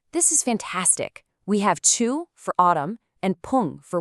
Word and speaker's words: 추: We've got Chu, pronounced Chu, which means autumn, then Ya for night, next is U for rain, and finally Jung, which means in the middle of.